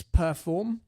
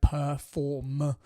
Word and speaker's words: Per4m: Um and it's Perform, which is spelt this way, p e r f four and then m. So, Perform.